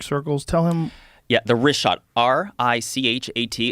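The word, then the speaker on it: Richat: Yeah, the wrist shot, R-I-C-H-A-T. It's worth mentioning that. Got it already here. Yeah, in the first couple, I just want to say it's wrist shot. I used to call it Rickot.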